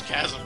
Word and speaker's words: chasm: That's how it's pronounced. It's not. It's chasm.